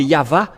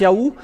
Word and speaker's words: Yahvah: c'est toujours le V la vraie appellation c'est pourquoi c'est yava et ceux qui prononcent yava sont ôés du péché mais ceux qui prononcent Yaou ne sont jamais délivrés